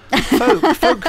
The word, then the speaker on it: folk: Yeah, we don't pronounce folk. The L.